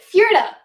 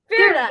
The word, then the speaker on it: Fjerda: Fjerda. Fjerda. Yeah, that's how you pronounce it. Fjerda. I always want to pronounce the J.